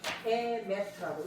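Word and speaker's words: אמת: 이제 이거는 아예이오 5개밖에 없는데 에메트라고 읽어요.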